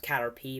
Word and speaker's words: Caterpie: catcher pie catcher pie okay i know it's pronounced cat or p but i call it cat or pikes i think it's a funnier way you're a